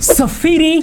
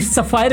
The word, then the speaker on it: Sapphire: ये है सफेरी या फिर सफायर बोल सकते हैं। स्पेलिंग आपको दिखाई दे रहा होगा। जो पढ़ना चाहे पढ़ सकते हैं। सफेरी netro प्लस काफी लोग सफायर नेट्रो प्लस बोलते हैं। सफायर ही बोल देते हैं।